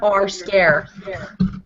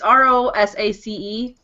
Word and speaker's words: Rosace: I'm just gonna call you R Scare. R Scare. I can't. It's Rosace. Rosace.